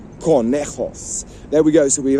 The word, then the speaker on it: conejo: And conejo is coming up today. Another word that begins with a C, C-O, and it's pronounced ca, well, co, to be precise, which is rabbit.